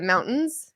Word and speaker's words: mountain: kind of sounds like in Utah we say the mountains you don't say the T it's not a mountain